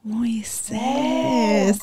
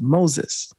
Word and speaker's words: Moises: Moises. Okay. It's actually, I love now, it. Which is an interesting, it's an interesting dynamic because the actual pronunciation is Moses.